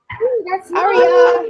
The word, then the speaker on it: Aria: Aria, that's how I say her name.